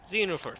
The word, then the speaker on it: Xenoverse: X's are always pronounced as Z's for whatever reason. Xenoverse.